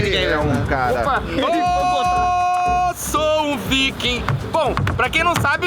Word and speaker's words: Viking: E caso você esteja se perguntando, a pronúncia é viking, não viking.